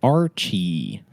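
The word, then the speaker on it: RCH-13: is a robot but he prefers everybody just call him Archie Archie got it Archie yeah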